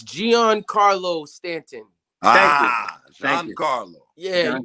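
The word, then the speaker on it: Giancarlo: you also uh messed up on it's it's gian carlo stanton carlo yeah you call them i don't even i couldn't even pronounce what you thought what you call them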